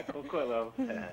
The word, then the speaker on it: Coquitlam: Coquitlam. All right. Yeah, Coquitlam.